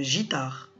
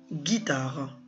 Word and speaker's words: guitare: Si j'enlève le U de guitare, comment on va la prononcer? Bien sûr, on va la prononcer une gitare. Et c'est faux. Donc, il y a le U pour casser le son je et nous donner le G, une guitare.